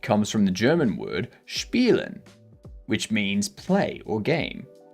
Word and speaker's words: spiel: I always hear it pronounced as spiel with like the CH in there. I never hear someone say spiel. Yeah. No one says spiel. People always say spiel.